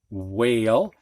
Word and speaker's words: whale: sh as in ship wh with a silent h whale and ph sounding like